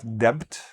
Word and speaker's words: debt: Now, notice I don't pronounce the "b", it's not "debt", "debt", "d-e-t" sound, "debt".